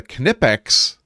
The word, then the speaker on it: Knipex: this was a relatively recent addition, is a Knipex. And Evils is not here, but he'd be very proud of me getting the pronunciation correct.